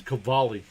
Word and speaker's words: Cavalli: Cavalli. I keep saying it wrong. It's Cavalli, like K. But it's spelt with a C.